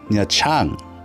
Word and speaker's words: Nha Trang: Welcome to Nha Trang in English. The pronunciation is actually more closer to Nha Trang, which is different. It's the English letters that throw me off with the Vietnamese language.